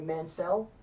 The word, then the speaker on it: Mansell: So not only did you get a shot at the championship tonight, but Lord Robert Mansell, or I'm sorry, Mansell, that's how he told me to pronounce it.